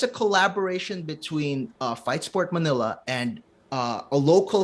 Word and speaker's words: Fight Sport: wrestling first of all thank you so much for pronouncing our company right fight sport Manila because a lot of people get around fight Sports Manila that's what but it's fight Sport and yeah it's a